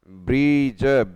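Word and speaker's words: bridge: ब्रीज, BRI, ब्री, D silent है, DGE, ब्रीज, BRI, ब्री, DGE, ब्रीज।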